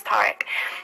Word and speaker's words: Tariq: I used to call him Tawik because his name's Tariq. I couldn't pronounce his name properly, but there was a time when we went on holiday.